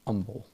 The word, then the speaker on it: humble: know that in Texas they pronounce the word humble with the H is silent they say humble I there may be